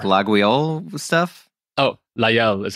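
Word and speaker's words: Laguiole: Oh, La Guyole is how it's pronounced.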